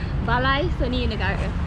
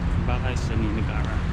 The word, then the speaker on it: Balai Seni Negara: Balai Seni Negara. Balai Seni Negara.